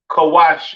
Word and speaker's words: Kush: have Kush all right Kush pronounced kawash in Hebrew all right uh famous